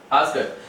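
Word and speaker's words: asked: अभी आप सोच रहे हैं कि मैंने आस्कट डे क्यों नहीं बोला, मैंने टे बोला है आस्कट, क्योंकि कोई भी वर्ब के साथ जब ईडी जुड़ता है तो उसका प्रोनाउंसिएशन डे नहीं होगी टे होता है।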